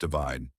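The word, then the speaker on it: ÷: Divide, pronounced divide.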